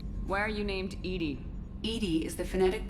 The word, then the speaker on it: EDI: you have a specific inquiry well the name Edie why are you named Edie Ed is the phonetic pronunciation of Eed that is an acronym for